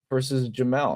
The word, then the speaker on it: Jamel: Him versus Reber, or honestly, I'd like to see him versus Jamel, right?